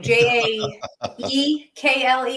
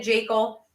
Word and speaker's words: Jekyll: She's on I think it's I'm going to butcher her last name, Jaekle or something like that. But Dr. Tina Jekyll, that's how you pronounce her last name.